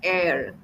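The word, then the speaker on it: heir: is a consonant and by the way H is silent and we call it air so and will come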